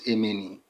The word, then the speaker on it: Emeni: Emeni is the proper pronunciation of Amani or Amun. Amun is Emeni among the Kushites. Whenever you hear, they see the word Amani, people pronounce it Amani. The proper pronunciation is Emeni.